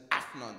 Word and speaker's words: Afnan: And that's Afnan, that's the proper pronunciation, Afnan. People don't realize this, but you have to have the A in the Afnan.